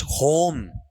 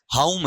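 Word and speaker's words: home: तो ये ध्यान देना, इसके टर्म को अपन पढ़ेंगे तो ये होम नहीं होता है। आप कई बार अपने घरों के बाहर लिखवा लेते हो स्वीट होम, ठीक है, होम नहीं है, उच्चारण क्या है, हाउम है।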